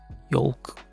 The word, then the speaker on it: yolk: Yolk is actually a cool word. Do people actually say the L anywhere? Yolk.